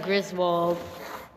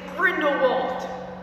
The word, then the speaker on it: Grindelwald: So next is Griswold. You know, from the Crimes of Griswold. I cannot stand you. You just mispronounced it. What's his name? It's Grindelwald.